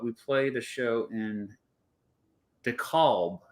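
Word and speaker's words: DeKalb: not Chicago but we played a show in d calb d calb Decalb is how you pronounce it just outside of Chicago that was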